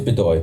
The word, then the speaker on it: Bedoy: It is Bedoy. Thank you for pronouncing that correctly.